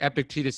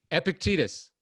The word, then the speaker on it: Epictetus: uh great sayings that they would remind like epictetus he says um he says it's not things